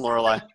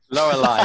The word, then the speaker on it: Lorelei: How's it going, Lorelei? You say my name a little bit less correctly, Andrew. Lorelei.